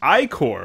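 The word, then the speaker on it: ichor: fill it with magical icor that's pronounced i-core oh i guess i should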